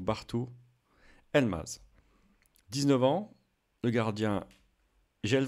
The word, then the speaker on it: Bartu Elmaz: Je précise juste que le G mouillé, donc le G avec accent grave, ne se prononce pas en turc. Il accentue la voyelle précédente, donc Bartu Elmaz.